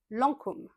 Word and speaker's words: Lancôme: Lancôme. Avec le son en. On ouvre la bouche.